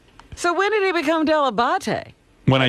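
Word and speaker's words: Dell'Abate: tomorrow a young man introducing himself as gary delabate debuting on the howard stern show at wnbc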